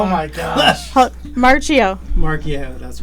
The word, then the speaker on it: Marchio: Marchio, that's right. Marchio. I'm close. Mark-E-O. That was a new version. But it's, Marchio. but it's March and I-O.